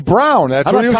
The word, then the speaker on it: Braun: his name and he says my name is pronounced brown like the color not broad not brawn like Lloyd Braun right why